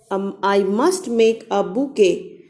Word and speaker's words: bouquet: I must make a bouquet for myself.